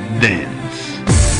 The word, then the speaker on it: dance: si scrive dance ma si legge dence Anzi per dire meglio si ascolta dance Marco e dance anche